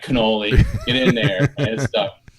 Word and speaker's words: Connole: my hand coach Kunal you say all right cannoli it's funny cuz I say holy cannoli all